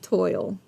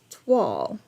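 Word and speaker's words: toile: Betty, I'll probably continue saying toil. But it might be twal. Twal. I love you guys. Thank y'all so much for hanging out with me today. It's toil, pronounced twal.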